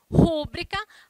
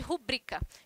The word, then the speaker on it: rubrica: Rúbrica ao invés de rubrica. Então, muito cuidado aí com a pronúncia das palavras.